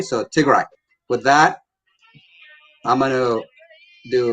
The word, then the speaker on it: Tigray: great it's too dry r-a-y is pronounced as Rai so Tigre with that I'm gonna